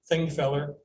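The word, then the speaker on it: Þingvellir: feller field and that that symbol is pronounced like a th thing feller which means a gathering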